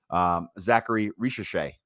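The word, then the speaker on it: Zaccharie Risacher: Zachary Ricochet, I believe is how you pronounce that.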